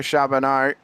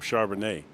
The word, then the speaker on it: Charbonneau: See, and I know that you're pronouncing it correctly, but I want to put a T on there and call him Charbonnet because that's a. Well, I was going to say it sounds like a wine.